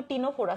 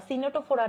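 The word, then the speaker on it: Ctenophora: হচ্ছে টিনোফোরা আচ্ছা এটার এটার উচ্চারণ কিন্তু টিনোফোরা সিনেটোফোরা না সো যদি তোমাকে বাংলায়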